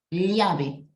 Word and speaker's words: llave: para la doble L, su pronunciación correcta sería algo como una L con una I pequeñita. Para hacer un ejemplo, llave. No sé si escuchas hasta ahí. Llave. En vez de decir llave, llave. Es como una L con una I ligerita, ¿no?